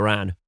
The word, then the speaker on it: wren: Pan rhymes with Ran. Okay. That's why they say Ran.